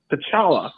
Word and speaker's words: T'Challa: T'Challa is how you would pronounce his name.